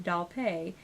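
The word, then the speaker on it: Dalpé: Zach dolphy said to pronounce his name doll pay that's the correct pronunciation and that it's French Canadian so I'm going to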